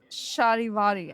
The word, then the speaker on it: Charivari: For Shahiari.